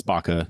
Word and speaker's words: BACA: the idea with this is it Baca yes its Baca that's how they want to pronounce it so yeah it's it's